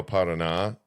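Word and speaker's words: Paraná: And then like north and north central like you're saying big giant rivers like the Rio Parana. Pronounce that.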